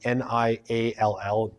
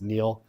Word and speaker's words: Niall: It's like Niall, but it's Neil, because he's Scottish.